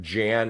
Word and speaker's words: Jan: Either is fine. I go by either. So I will answer to either. And but Jan is technically correct because I was intentionally named by my father after somebody who pronounced their name Jan.